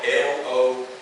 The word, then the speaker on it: logos: And they called it, it's spelled L-O-G-O-S, logos in Greek.